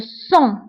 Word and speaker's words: sang: le sang le sang فكتكتب بالجي ولكن ما كنطقوهاش كنقولو le sang le sang جرح هو une blessure